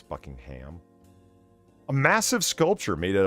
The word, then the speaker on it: Buckingham: for jubilee okay why that's how the british pronounce it by the way it's buckingham a massive sculpture made